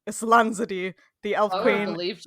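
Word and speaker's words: Islanzadí: We also hear a little bit about the magic Varden twins, Islanzadi, I just looked up the pronunciation. Islanzadi, the elf queen.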